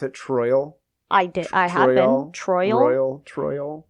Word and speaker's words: Troyal: did not know this his name is troyal like Royal with a t troyal which is a name I have never heard of pronounce that do you pronounce it troyal I did I have